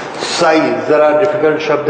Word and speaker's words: psi: Anyway, तो ये स से बना हुआ है, स, स और च के बीच में psi.